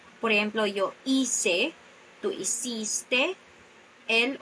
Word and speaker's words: hiciste: to pronounce these words, the second to the last syllable is the stressed part of the word. Por ejemplo, yo hice, tú hiciste, él o ella hizo.